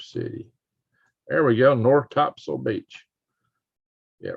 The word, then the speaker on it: Topsail: what are you talking about Anton right here Topsail Beach Now spell tops up the locals pronounced at topsoil yes I was yeah riding this areas where